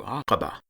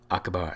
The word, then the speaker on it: Aqaba: name of this city the Q indicates the pronunciation close to Aqaba but most of us would say acaba as if it had a K there anyway but even if we